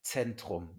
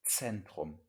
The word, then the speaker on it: Zentrum: Nico dice Zentrum, ja. Zentrum. Una Z en alemán siempre se pronuncia como TS, ¿vale? Entonces, Z es como TS. Entonces, Zentrum. Zentrum.